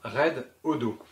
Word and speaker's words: Redodo: Red pour rouge, hein, ça se voit. Odo pour odomètre. Pourquoi? Je ne sais pas. En tout cas, ça se prononce comme ça, Red Odo.